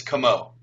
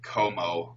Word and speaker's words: Comeau: or whatever how do you pronounce your last name it's kamo kamo yep okay I was thinking or yeah yeah so yeah this is kind of funny um but it's yeah people used to pronounce it Kom and in in school